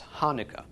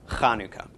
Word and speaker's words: Chanukah: as in Konica okay Chanukah is usually not spelled CH of the beginning it's usually just build H so people think it's Chanukah but it is in fact Chanukah not that big a